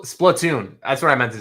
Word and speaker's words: Splatoon: Plun. Splatoon. That's what I meant to say. Splatoon. Thank you, Coupe. My uh pronunciation is very, very poor.